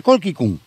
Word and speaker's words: colchicum: Fijaros que ahora se le llama colquicum, se escribe colchicum, se pronuncia colquicum, porque tiene esta, fijaros, 6 estambres, 3 más cortos, 3 más largos.